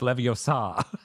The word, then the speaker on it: Leviosa: magic spell you have to you have to pronounce it right it's Leviosa like it is exactly like that you can't